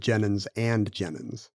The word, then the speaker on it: Jennens v. Jennens: Jennens, but when it was actually said out loud, they would have said Jennens and Jennens.